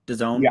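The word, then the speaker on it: DAZN: Done.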